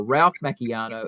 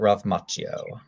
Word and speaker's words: Ralph Macchio: for the night are ralph macchiano and william zafka so that's cool uh i believe it pronounces it ralph macchio oh yeah sorry my bad that's i it's consideration i